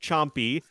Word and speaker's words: Champi: And yes, chat, it is pronounced Chompy. Don't need chat going after my pronunciations again. It comes from the Inca word for mace, or the Quechua word to be specific.